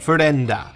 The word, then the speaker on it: Fender: kind of agreed today in Japanese he's pronounced more like fenda I figure most of